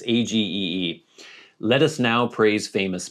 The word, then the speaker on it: Agee: As for Walker Evans, have you seen the depression era book he did with James Agy? I never know how to pronounce that. Is it Ag or Agy? It's Agee.